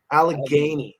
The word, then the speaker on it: Allegheny: How do you pronounce? Is it Allegheny? Allegheny.